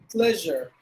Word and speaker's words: pleasure: Actually, you have to pronounce it like pleasure. That we don't have that specific sound in Tamil.